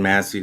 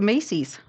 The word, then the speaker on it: Massey: on sanchez i think just call it macy's and massey so that we get it right the way it's spelled m-a-s-s-e-y right it's probably masses let's go back to calling it that i don't know why we went to macy's that was that was